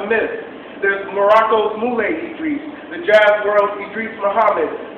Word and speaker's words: Idris: How do you say it? I call myself Idris, like my grandma says it.